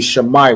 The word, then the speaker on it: Shammai: So it'd be Shammai one, right? Wherever you see the letter I, you want to pronounce it as I, right? It's not Shami one or anything else.